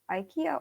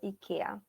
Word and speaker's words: IKEA: are completely right uh this is i have ikea or ikea uh number four it's a success it is